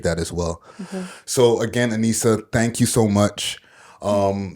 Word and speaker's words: Aneesa: youtube anissa vivo is anisha oh my god did i just say my name wrong vivo is anissa vivo pretty much everything